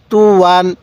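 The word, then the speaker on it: طُوًى: ইয়া দুই জবর ওয়ান তুওয়ান স্মরণ রাখবেন এই ইয়াটা শুধুমাত্র লেখার সময় আসবে পড়ার সময় উচ্চারণে আসবে না তাহলে ত পেশ তু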